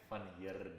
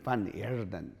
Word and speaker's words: Van Heerden: So roll the R. Roll the R. Say it again. Van Heerden. Van Heerden.